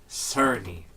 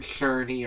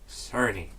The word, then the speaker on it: Cerny: Okay, that's how it's pronounced, and it's Mark Cerny, not Cerny or Turney or whatever. Cerny.